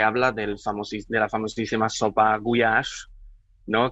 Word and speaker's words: gulyás: También se habla de la famosísima sopa gulyás, ¿no? Que en España se suele pronunciar gulas, sí, que no son las gulas del norte.